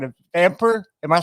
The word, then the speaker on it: VAMPR: you know what's funny? I don't really know, but that sounds about right. Vamper, yeah. Yeah, yeah. For anybody who is good with good with acronym, it's spelled VAMPR. Is it? I don't know. I always like the word vampire because it sounds you know kind of weird and everything. But vampire is a good pronunciation too.